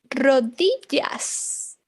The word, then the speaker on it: rodillas: Las rodillas. Knees. Las rodillas. Also remember two L's in Spanish. Sounds like ya, ya. Rodillas. Las rodillas. Las rodillas.